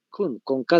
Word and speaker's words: Kuhn: Con H al inicio, A-N-S, Hans Kuhn, con K de kilo, ¿no ve? Y tal como se escucha, Kuhn.